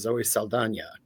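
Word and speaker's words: Saldaña: So I'm like, I don't know if this is a new thing or if this is like a John Cougar Mellencamp thing. And, she's actually going back to the correct pronunciation, but she is somebody who I absolutely adore.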